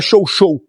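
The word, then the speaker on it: chow-chow: A pronúncia correta. É show show.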